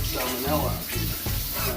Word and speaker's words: salmonella: sure you don't get salmonella all over the place. Salmonella. Salmonella. It's Salmon. salmonella. It's spelled salmon the way you spell fish, and N-E-L-L-A like Nella flavors. Only it's with an E.